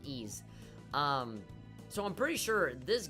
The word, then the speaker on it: Ys: is it wise you know no it's not pronounced wise it pronounced E's so I'm pretty sure this game came out